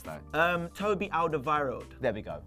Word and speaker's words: Alderweireld: Toby Alderweireld. There we go. Even though it's got a W in it, we act like there's a V.